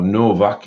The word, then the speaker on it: Nowak: Now this book is by Christina Nowak, or Novak if it's pronounced as a V, if the W is pronounced as a V.